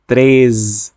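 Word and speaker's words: treze: those those 13 কে ত্রেজ ত্রেজ খেয়াল করবেন অনেকে কিন্তু তিন এবং 13 এর উচ্চারণে অনেকটা গুলিয়ে ফেলে এটা হবে আর 13 হবে ত্রেজ ত্রেজ আর 14 কে বলি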